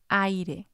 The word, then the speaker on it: aire: A strong vowel next to a weak vowel, in any order, makes a diphthong. So they're part of the same syllable. For example, aire, aire.